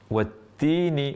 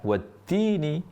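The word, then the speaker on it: والتين: Jadi bukan watin pakai th. Bedakan wattini dan wattini. Setelah kita tahu beda bahwa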